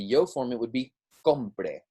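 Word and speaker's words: compré: So in this sense, we're putting that stress on the last syllable here. So it's compre, right?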